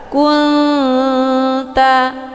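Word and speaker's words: كُنْتَ: Jadi cara bacanya, nunnya disamarkan, kemudian siap-siap menuju ke huruf ta. Kunta, ya, kunta. Jadi hukum bacaan ikhfa akrab ini dibacanya juga sambil didengungkan.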